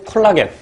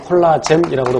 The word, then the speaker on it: 콜라겐: 그래서 이 헤모글로빈이나 트랜스사이레틴의 단위 구조, 그러니까 글로빈이나 트랜스사이레틴의 단위 구조는 이런 구형이고, 그 다음에 콜라겐 또는 콜라젠이라고도 발음하는데, 콜라겐은 섬유상 단백질이죠.